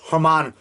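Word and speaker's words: Germán: It looks like German Robles, but it's pronounced Hermann Robles. Hermann Rebellus. I think it's Hermann Rebellus. That's how it's pronounced. Because the G is pronounced with as an H sound.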